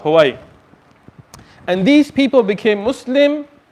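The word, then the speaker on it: Hui: It's written H-U-I, but it's pronounced Huai.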